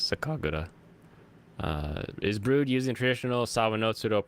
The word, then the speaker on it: sakagura: But if it's Japanese, it's Sakagura.